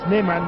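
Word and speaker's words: Snyman: Voici Shaki Sneeman, Davy Sneeman, Sneeman, dit-on, prononce-t-on sud-africaine.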